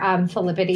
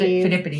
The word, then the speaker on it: Phidippides: Jeff has his own store, Philippides. Phidippides.